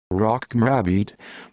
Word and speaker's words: Rocco Morabito: rocco morobito italian pronunciation rock mrabid born the 13th of